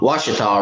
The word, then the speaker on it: Washita: but I think he's telling me how to pronounce that River is wash wash it off wash it all River okay looks like Gucci top but Washita